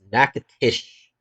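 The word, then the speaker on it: Nacogdoches: do that for Alabama uh Naes my favorite pronunciation that is nacatish uh shreport is the City at the junction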